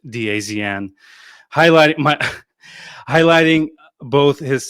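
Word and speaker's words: DAZN: After the match, head coach Igor Tudor shared his thought thoughts with uh the zone, which is by the way, that's not how it's pronounced, dazen.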